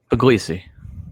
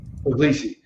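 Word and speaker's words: Puglisi: I butcher the last name how do you pronounce his last name again pesi pesi so Ryan py um I think for most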